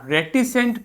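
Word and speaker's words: reticent: ठीक है, इसका प्रोनाउंसिएशन क्या होगा, आर, ठीक है, ETI सेंट। ठीक है, तो रेटिसेंट, रेटिसेंट, ठीक है, रेटिसेंट पढ़ना है आपको, ध्यान देना है इसे, रेटिसेंट।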